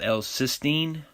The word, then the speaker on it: L-cysteine: warning okay avoid this ingredient right here called l-cysteine that's how you pronounce it it's in bread mainly and it's